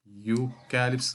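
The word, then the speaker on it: eucalyptus: ആ ഒന്ന് പറഞ്ഞു നോക്കിയേ നമ്മൾ യൂറോപ്യൻ എന്ന് പറയുന്ന പോലെ തന്നെയാണ് ഇവിടെ യൂകാലിസ് അപ്പൊ യലാണ് തുടങ്ങുന്നത് യ യൂകാലിസ് എന്നാണ് നമുക്ക് പറയേണ്ടത് അപ്പൊ യ എന്ന് പറയുന്നത് പറയുമ്പോൾ എന്താണ് കോൺസനന്റ് സൗണ്ട് ആണ് അല്ലേ കോൺസനന്റ് സൗണ്ട് വരുമ്പോൾ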